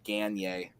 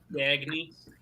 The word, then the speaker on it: Gagné: Well, but the funny thing is like I still would have said it wrong because I would have said Gagne, which isn't what. Gagny.